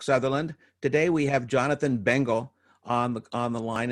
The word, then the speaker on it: Bengel: my name is Jonathan bengle and by the way Chuck thank you for pronouncing my name so well a lot of people mispronounce it I've been nicknamed The Bagel but I digress uh